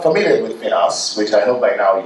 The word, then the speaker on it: FINOS: I've heard multiple ways of pronouncing it. I'm not really married to it, but it's not FINOS, it's not FINOS, it's FINOS.